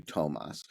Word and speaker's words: Toomas: I see his name, it looks like it's Toomas Hendrik Ilves. So it took me a while to internalize that that it was actually Tomas, but I finally did